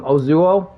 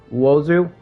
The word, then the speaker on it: Uozu: Only 2,400 troops, so I'm thinking Ozuo. Uozu? I said it wrong. Uozu.